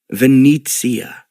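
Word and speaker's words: Venezia: Venitzia. Of course, Venice, Lyndon said, remembering the Italian pronunciation of the famous city that seemed to rise up out of the water.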